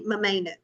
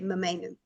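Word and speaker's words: ממנו: And this word is actually mamenu, okay? And it's spelled mem, nun, vav. Mem, nun, vav. Okay, mamenu.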